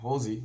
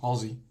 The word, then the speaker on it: Halsey: I pronounce her name as "Hawl-zee." Hawl-zee. Halsey.